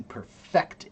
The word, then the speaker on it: perfect: Now, when you say that one, you have to put the accent on the second syllable. To perfect it, right?